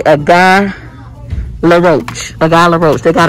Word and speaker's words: Guy Laroche: Okay, they're making things so complicated, but yeah, say a guy LaRoche.